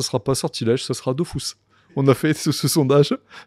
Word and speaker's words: Dofus: Bah ouais, parce que ça s'écrit Dofus. Ouais. Donc tout le monde dit Dofus.